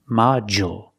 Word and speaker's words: module: And we see the D makes the J sound, like juice and jump. Module.